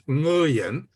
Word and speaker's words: Nguyen: The way I learned it was the NG sound is the last words in the pronunciation in the word sing, S-I-N-G. So it's Nguyen. However, they have anglicized it in American to just say Nguyen because most people cannot